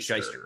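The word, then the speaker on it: Schyster: Is it Shyster or Schweister? How do you pronounce it? Shyster. Irwin R. Shyster.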